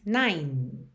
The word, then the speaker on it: nine: Esse E final do número 9 não é pronunciado, então você diz nine. Finaliza o som no N.